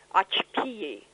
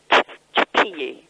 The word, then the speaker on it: Xochipilli: Yes, and actually when you're in that part of the world, anything that's an X is... It's actually an expiration of the breath through the teeth. And okay. Then so they would say, Xochipilli.